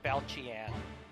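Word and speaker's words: Falchion: to bring into uh it's pronounced falcian it's uh falcon fancy that's what it is i that's i was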